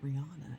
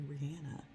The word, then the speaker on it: Rihanna: I found out the other day that her name is not pronounced Rihanna. It's actually Rihanna.